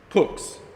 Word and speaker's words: Pooks: Pooks. Rhymes with hooks.